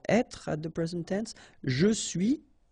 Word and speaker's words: je suis: Je suis, tu es, il est, elle est, nous sommes, vous êtes, ils sont, elles sont. Okay, so je suis, final S not pronounced.